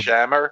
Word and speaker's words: Shomer: Shomer. Shomer. Shomer, yeah. I think it's well, it sounded like a long A, so it might have been Shamer.